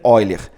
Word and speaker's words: Euler: diagrama de ven oiler você escreve ven Euler mas pronuncia ven oiler tá é uma espécie